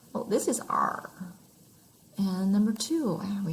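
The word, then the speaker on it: 二: e like in easy number two sounds like the pirate r oh this is r and number two and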